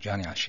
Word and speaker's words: Johnny Achi: Do I pronounce that right, by the way? Correct, Johnny Achi. Johnny Achi.